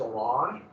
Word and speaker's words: Orange: The town's called, okay, it's spelled like in English it'd be orange, but it's orange.